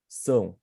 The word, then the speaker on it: são: You have to put your tongue back and you must say a bit of a nasal sound. São. Like são. Like São when, 20. São 21h45. Yes, that's right. And to pronounce the sound, you imagine somebody says something to you and you don't understand, and you say, São.